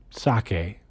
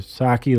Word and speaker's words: sake: Sake and I don't know if it's pronounced sake or saki like the the drink, but s a ke.